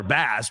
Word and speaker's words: Bass: Under the pronunciation guide, Tyler Bass, next to Bass, they write in parentheses, like the fish.